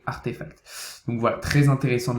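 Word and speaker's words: RTFKT: comme vous voyez ici rtf capter qui se prononce donc artefacts donc voilà très intéressant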